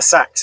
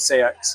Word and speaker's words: Seax: It's spelt Seax, and I don't possibly know. pronounced Sax. Somebody out there knows how to say it. I'm not sure I do. They're probably in the grave 900 years ago. Yeah, I actually use both. Sax and Seax.